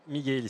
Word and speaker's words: Michel: c'est Michel ou Michelly, comment on prononce votre nom ? Miguel, c'est un nom Corse.